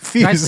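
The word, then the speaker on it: Piers: Pierre, I don't think Pierre. It's Pierce.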